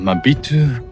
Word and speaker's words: Maobitou: Now we are exactly in Maobitou, which is the southernmost point of the island of Taiwan.